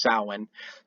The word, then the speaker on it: Samhain: I think it's pronounced Samhain.